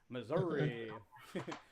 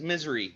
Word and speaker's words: Missouri: great yes good job correct answer good job Missouri uh missourians pronounce it Missour Missour so just yeah depends